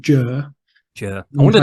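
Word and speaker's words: Győr: Western Hungary just near the Austrian border called jur yeah I wondered how to pronounce that sorry written down I had no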